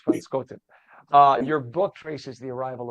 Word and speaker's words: Van Benschoten: It's Van Benschoten. Pronounce it properly.